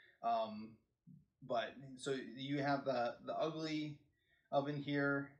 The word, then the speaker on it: UGLI: But so you have the Ugly oven here, and it's UGLI, and it's pronounced ugly.